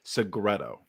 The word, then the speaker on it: Segreto: Welcome to the Somebody Like You podcast, where I am so stoked to have Melissa Segreto. Did I pronounce that right?